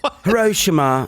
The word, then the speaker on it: Hiroshima: way I say it I think uh Hiroshima is how you say it in a British accent oh okay um hirosima you know how they like to make it but Hiroshima sounds